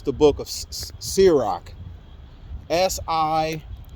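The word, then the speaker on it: Sirach: book of man I like I I can't pronounce that word it's the book of serak Si I r a c h the whole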